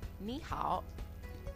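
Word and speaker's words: 你好: how to pronounce it it sounds just like niw now you can say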